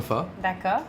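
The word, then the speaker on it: phở: va préparer le sale boulot bouillon pour le phare voilà ça se prononce comme ça le port donc un bouillon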